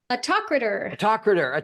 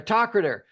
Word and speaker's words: Autokrator: Oh my God, I can't remember how to pronounce it now. Autokrator. Autokrator.